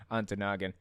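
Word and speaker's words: Ontonagon: then we've got antanagon right aunt noggin okay onto noggin and then we got nubin way that one's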